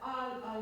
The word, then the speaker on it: al: Can we just go back to that al mio volo? Wait. What did you say? What's the first syllable? Al. The L comes at the last moment.